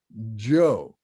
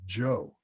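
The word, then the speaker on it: bhyoḥ: Now I know it says B-O, B-H-Y-O-H in that second line, but it's actually pronounced Jo.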